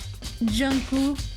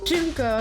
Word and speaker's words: Junko: Junku. Rip Junko. Fuck, I'm saying her name wrong. Junko, there we go.